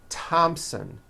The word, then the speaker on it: Thompson: like to point out although these next words and names are spelled with a t H they are pronounced as if they were spelled with a normal T TT like that and